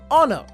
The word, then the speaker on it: honor: The noun honor begins with a consonant, but the letter H is silent.